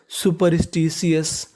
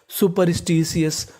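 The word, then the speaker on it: superstitious: देखिए जब आप सुपरस्टीसियस पढ़ेंगे तो आपको आर का उच्चारण ऐसा करना है कि सामने वाले इंसान को पता ना चले कि आपने आर बोला है कि नहीं बोला।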